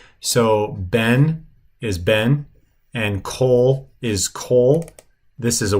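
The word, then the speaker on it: כל: So whenever you see this word, kol, you always pronounce it kol, not kal, because this is what they call a kametz chatuf, which is a shortened O-class vowel.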